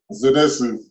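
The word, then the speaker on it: Zenitsu: Kanetsu? Zenetsu.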